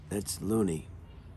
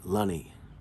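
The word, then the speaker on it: Lunney: That's Looney. Not Looney, I'm sorry, Lunny. Looks like Looney, but pronounced Lunny, okay?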